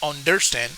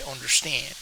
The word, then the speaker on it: understand: understand understand this one we don't say understand we say understand voting in elections is